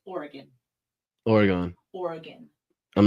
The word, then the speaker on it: Oregon: Um, people have requested that you pronounce Oregon correct me. What does that mean? How do you say it? Oregon. It's Oregon.